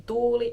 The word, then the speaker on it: tuuli: One of my questions was asking the pronunciation difference between tuuli and tuli, so I did get a 21-second audio clip back. Wind, tuuli, tuuli, tuuli. Fire, tuli, tuli, tuli. So, tuuli, tuli, tuuli, tuli.